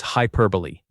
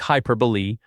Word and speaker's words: hyperbole: Number 34 is hyperbole. Another surprising one. It sounds like hyperbole. Four syllables, not hyperbol.